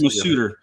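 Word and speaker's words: Masuter: How do you even pronounce this? Mass? Is that a typo or is that? No, it's Masuder.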